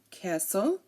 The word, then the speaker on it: castle: is silent here and if a word ends in St tle e like Castle hustle whistle um you know it